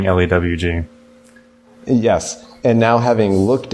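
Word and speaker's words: LEWG: it you see that it says pronounced loogie really and like that's just terrible yeah and now I'm gonna continue saying le WG yes and now having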